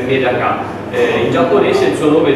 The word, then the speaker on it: medaka: In italiano il nome è pesce del riso o metacà, la pronuncia, se vogliamo usare la pronuncia giapponese, è con l'accento finale sulla A, quindi diciamo il nome sarebbe metacà.